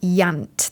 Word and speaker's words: Iant: His first novel is called Yant. That's spelled IANT, and it was released a little